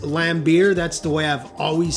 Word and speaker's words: Lambert: Now, I understand it's spelled Lambert, but it is pronounced Lambert.